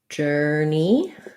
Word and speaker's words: journey: We have first syllable stress. Letter J says the J sound. You see that like this in the dictionary. This OR, we reduce it to an sound. So you're just going to have the and then the